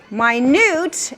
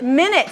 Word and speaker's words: minute: So minute and minute. So it all depends on which syllable you're emphasizing, right?